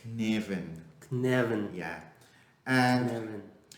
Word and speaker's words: Cynefin: Well, I don't know how to pronounce it right, but because it's a Welsh word, but it's like Cynefin.